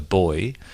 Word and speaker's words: buoy: foreward we don't pronounce buoy which the Americans used to refer to like a floating uh object of plastic off the coastline we call it a boy but there are a